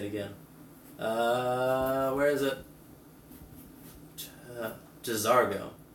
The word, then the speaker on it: J'zargo: me say it again uh where is it j'zargo j'zargo okay cool our servant class says we do